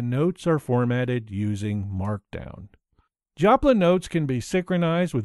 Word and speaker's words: Joplin: It's called Joplin. That's spelled J-O-P-L-I-N, you know, like in Missouri or Janice.